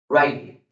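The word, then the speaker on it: Ryrie: Otro autor llamado Charles, se escribe Charles Ridley, pero se pronuncia Charles Riley, un eminente teólogo, ya partió con el Señor, eminente pensador, allá en el seminario teológico de Dallas.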